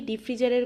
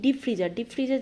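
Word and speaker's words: deep freezer: আচ্ছা, এর সাথে সাথে ডিপ ফ্রিজারের কথাও যেহেতু চলে আসে, কথাটা একবার বলে নিই। ডিপ ফ্রিজার জিনিসটা কি? আচ্ছা, এইটা আমরা অনেকে ডিপ ফ্রিজ করে উচ্চারণ করি, কথাটা কিন্তু ডিপ ফ্রিজার, নট ডিপ ফ্রিজ।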